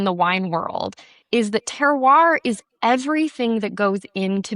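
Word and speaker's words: terroir: Oh, I've been planning travel for a while, but the idea of teroir and pulling I'm glad you said it that way. I couldn't pronounce I knew it was like cool.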